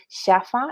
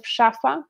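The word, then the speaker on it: szafa: And so they avoid sounds that children are incapable of pronouncing at a certain age, like sh, ch, j, zh, very nice Polish sounds. And as a result, we have them say shafa instead of shafa, which means wardrobe, and it doesn't do any good.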